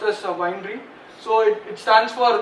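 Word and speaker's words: weinre: uh Winery so it's it's actually pronounced that pronounced as Winery so it it stands for web inspector remote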